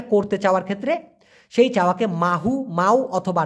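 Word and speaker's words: mahu: গেছে ক্লিয়ার ব্যাপারটা মাহু এই মাহু হচ্ছে সঠিক উচ্চারণ তবে অনেকে এটাকে বলে মাউ সায়া মাহু না বলে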